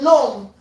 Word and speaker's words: gnome: So the G is silent.